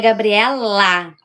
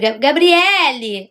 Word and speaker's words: Gabriela: Meu nome é Gabriela. Ai, quando me chamam de Gabriele aí, eu é Gabriela.